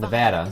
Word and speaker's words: Nevada: The name Nevada, Nevada. is derived from Spanish. It's Nevada.